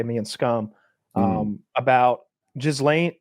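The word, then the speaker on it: Ghislaine: Um, about Jlane, Gilain, Galain, that's how you pronounce it. I gain Maxwell. It's Galain Maxwell.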